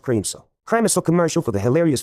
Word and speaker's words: Kramiso: Kramiso is pronounced Creamso.